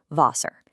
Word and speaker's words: Wasser: German Ws are always a V sound. So it becomes "Wasser".